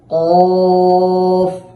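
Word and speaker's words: قاف: আছে সেটার সাথে লাগিয়ে কফটাকে মোটা করে দুই ঠোঁট স্বাভাবিক রেখে উচ্চারণ করতে হবে কাফ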